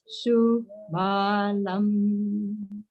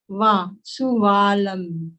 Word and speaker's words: subalam: vara yava ravalam vasudevam subalam. One thing to note is there is one syllable in here, va, suvalam. It should be subalam. But in Sanskrit, the va and the ba are considered same.